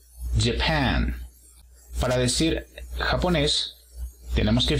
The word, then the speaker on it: Japan: El apóstrofo se encuentra en la segunda sílaba. J. Japan.